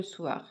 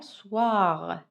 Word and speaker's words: soir: Alors, mangez moins de gâteaux le soir. يعني كلي قليل من الحلويات في المساء. D'accord? إذا نقرأ مع بعض ما هو في الإطار. Soir. Soir. Soir. Le O avec le I, comment je le prononce? Wa.